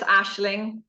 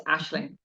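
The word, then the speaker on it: Aisling: and I was very easily molded with the situation and didn't really, you know, now it's Aishling, and whatever way you pronounce it is okay with me, but it's Aishling.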